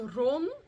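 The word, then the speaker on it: Rán: So, when it comes to the name Ran, it is said to also be pronounced Ron or Ron, and that it might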